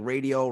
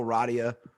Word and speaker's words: Rodia: Everybody calls me like Radio, Rodia.